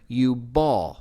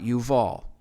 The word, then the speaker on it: Jubal: And again, Strong's Concordance 3106, it's pronounced there Yubal, not Yuval. Again, they're interchangeable.